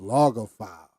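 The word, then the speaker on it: logophile: white just don't want to cooperate oh it's pronounced loger file so they are most likely loger files which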